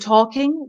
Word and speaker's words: talking: And it's the same with words with like walking and talking. The L and K is, the L is silent. So you would say, it sounds like ork. So walking, talking.